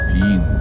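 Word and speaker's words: Wien: 우리 손님들이 향하고 계시는 영어로는 비엔나, 독일어로는 비인 이렇게 발음을 하는데, 원래부터가 그곳이 수도는 아니었었다고 해요.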